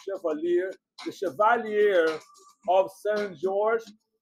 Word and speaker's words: Chevalier: movie's name was Cavalier, but not Cavalier, the right pronunciation, because the French word is called Chevalier.